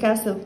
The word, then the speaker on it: castle: sand castle قلعة رملية، عندنا اس وراها تي مش بنطق التي. sand castle قلعة رملية، دي هروح ابنيها وانا في السمر في الصيف، on the beach على الشاطئ.